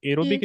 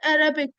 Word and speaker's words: aerobic: Uh aerobic. Okay. So you have aerobic respiration and anorobic respiration.